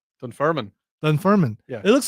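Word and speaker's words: Dunfermline: Scotland's Dun Ferman. Dunfirman. Dun Ferman. Yeah. It looks like there's an L in there. Yeah. Yeah, there is. So, the L is silent.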